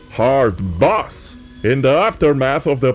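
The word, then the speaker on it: hardbass: to play soviet wave and what they call hard base music although i've been told it's pronounced hard boss in the aftermath of the party the members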